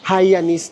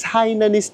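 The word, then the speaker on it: Hainanese: Last time nung kumain kami nito, ang lagi naming sinasabi, pronunciation namin, Hayanis na kami ng Hayan chicken. It's Hinanese chicken kasi and dito siya originated sa Hinan.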